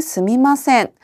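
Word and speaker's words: すみません: 온토니 스미마센 혹은 스미마생의 발음을 스마센이라고 할 수 있다는 점도 기억하시면 되겠습니다.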